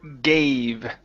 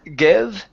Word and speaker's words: gave: the uh the word gave here so we're going to use the long a sound so instead of give it's a g gave she gave me she gave me that's